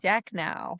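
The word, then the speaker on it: Shachnow: And I'm not sure I'm going to get this pronunciation right, so help me out. Major General Sidney Shacknow. Shacknow.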